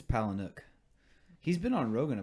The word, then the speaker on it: Palahniuk: I think it's Palahniuk. He's been on Rogan a bunch of times. I figured you'd watch him before. Yeah, but I don't remember his name. That's all Rogan calls him. Palahniuk.